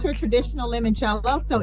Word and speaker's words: limoncello: award-winning brand uh Daphne La Monticello am I pronouncing it correctly it's limoncello limoncello oh I done gave it